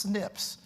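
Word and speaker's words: SNP: single Bas changes called single nucleotide polymorphisms uh pronounced Snips and and this is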